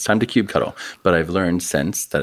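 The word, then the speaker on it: kubectl: you pronounce that well for the first six months of my time here it was Cube cuddle Cube cuddle like it was like an action I thought it was a verb it's time to cube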